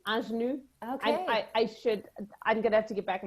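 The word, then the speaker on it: Ingénue: So it's Ingenue. Okay. I'm gonna have to get back my French diploma. I think it's sorry Ingenue.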